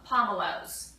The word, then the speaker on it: pomelo: of your grocery stores now and they're pron pronounced palom Alo pomelow um and what I do is I will